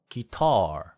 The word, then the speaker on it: guitar: 그런데 guitar, hotel 이거는 기라 또는 호렐 이렇게 T가 R처럼 되지 않아요.